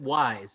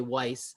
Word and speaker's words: Weis: think the more important thing so uh you pronounce it wise is that correct that's how yes because the